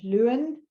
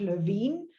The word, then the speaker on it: Lewin: the Berlin school could Lewin the Americans call Court Levine is the German pronunciation and he worked in